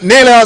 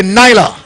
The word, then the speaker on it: Nyla: Shalia Graham Campo Alpha's Naylor Simpson runs out of three. That should be Nyla.